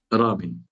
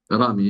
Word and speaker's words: Rami: Rami. Comment? Rami, il faut rouler le R.